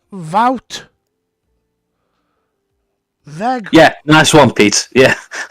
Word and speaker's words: Wout: It's pronounced Wout.